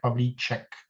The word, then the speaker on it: Pavlíček: My name is pronounced in Czech as Pavlíček.